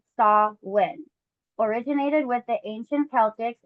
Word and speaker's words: Samhain: Samhain, pronounced Saw-win, originated with the ancient Celtics and is celebrated on October 31st to November 1st.